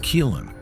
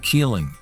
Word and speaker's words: Keelung: the gold-producing place called Keelung Jilong Mountain because keelung is the Minnan pronunciation of the Taiwanese indigenous Katagalan's "Galan" some say galan means federation